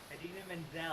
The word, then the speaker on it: Idina Menzel: Idina Menzel.